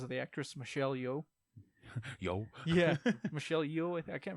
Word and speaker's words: Yeoh: Yo.